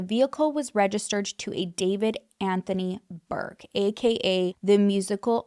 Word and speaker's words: D4VD: visual for anyone listening, the way David is spelled is with a D4VD. David.